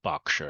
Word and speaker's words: Berkshire: such as newborn colleges in Berkshire or Berkshire as we as it's pronounced but uh there are